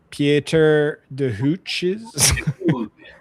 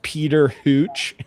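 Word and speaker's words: Pieter de Hooch: Yeah, that ch it's Dutch, so nothing is pronounced the way it's spelled. Okay, nice. Yeah, it's not it's not pronounced Peter Hooch, right?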